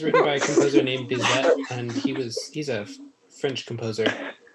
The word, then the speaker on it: Bizet: Yeah, it's actually Bizet is, if we're pronouncing correctly, because it's French, right? So you don't have that T at the end.